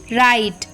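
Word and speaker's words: write: अ word मतलब या तो आर के पहले साइलेंट होगा डब्लू या फिर वर्ड के स्टार्टिंग में जैसे डब्लू आर आई टी ई राइट डब्लू आर ई ए टी एच रेथ डब्लू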